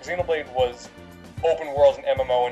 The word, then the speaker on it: Xenoblade: I was getting my pronunciations wrong on that. Xenobraids, Xenoblade.